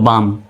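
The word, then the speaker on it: balm: তে হলো বতে আকার এল এর উচ্চারণ নেই যেহেতু এল এম পরপর আছে এম তে হলো ম হয়ে গেল বাম এই কাম মানে হলো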